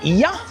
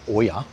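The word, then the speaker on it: Oia: And when you first go there, you always say "Oiya." But then the locals say "No, it's Iya."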